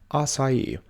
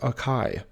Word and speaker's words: açaí: English language number one açaí this is often mispronounced as a KY number two applicable this